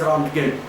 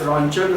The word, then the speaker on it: Röntgen: Wilhelm Conrad Röntgen, so simply according to spelling I must pronounce as Röntgen.